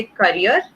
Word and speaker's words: carrier: When you आर pronouncing करियर तो दबा के हम उसको थोड़ा सा बोल रहे हैं, कैरियर को थोड़ा सा खुल के बोल रहे हैं, ठीक है। क एंड कैर का फर्क आ जाता है और दोनों में डिफरेंस है।